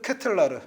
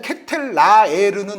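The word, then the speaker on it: De Ketelaere: 네, 저의 마지막 선수는 흡이차 크바라츠켈리아에 이어서 이 선수도 발음이 좀 어려운데 샤를르트 케텔라르. 네. 약간 뭉개야 돼요. 이거 정확치 않을 수도 있어요. 네. 근데 이게 일단 케텔라에르는 아닙니다. 본인이 얘기하더라고요.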